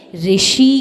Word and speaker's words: ऋषि: अब जो नीचे घुमा के रेफ है ना ये रा की नहीं होती है। यह होती है ऋषि की। किसकी? ऋषि की। और ऋषि शब्द बनता है ऋषि शब्द बनता है र और इ मिलकर के इसीलिए कहा जाता है ऋ ऋषि र और इ मिलकर के बना ऋषि तो मतलब मतलब अब